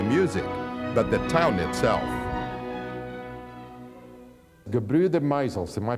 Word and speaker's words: Gebrüder: Gebrüder Meisels, am I pronouncing that okay?